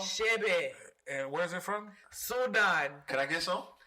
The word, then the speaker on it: Chebe: Spell it again for me. CHEBE. What's it called? Shebe.